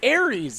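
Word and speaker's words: Ares: I mean, after how bad we butchered Greek mythology, both of us. Hey, I didn't butcher corrected you. It's Aries. It's Aries.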